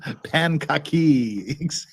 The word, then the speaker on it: Pancake: It's pronounced Pankaki.